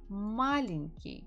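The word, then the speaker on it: маленький: the words after me malinki the stress falls on the first syllable means he is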